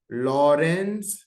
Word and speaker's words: Lorentz: जान लो लिख लो इसको लौरेंस ए साइलेंट है यू कैन से लॉरेंस लॉरेंस लॉरेंस force का डेफिनेशन